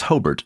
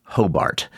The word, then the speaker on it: Hobart: And that's Hobert, not Hobart. Yes, we call it Hobart uh with the accent on the first syllable.